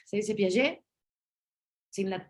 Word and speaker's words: Piaget: por ejemplo, para Jean Piaget, no se dice Piaget, se dice Piaget, sin la T, porque los franceses rara vez pronuncian la T al final de las palabras, ¿no?